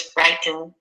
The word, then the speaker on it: frighten: second again not always there's frighten frighten which is a verb which is stressed on the first one and if you look